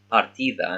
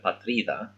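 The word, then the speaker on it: πατρίδα: Right, so because he doesn't speak Greek fluently, he's saying partida instead of patrida, and they're making fun of him.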